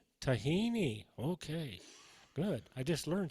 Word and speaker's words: tahini: oatmeal taban is that is that how it's pronounced tahen tahini tahini okay good I just learned something all right